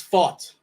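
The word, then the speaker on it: Pfaadt: 4K and Brandon fat is that how he pronounce his name fat it's fought fought okay yeah I did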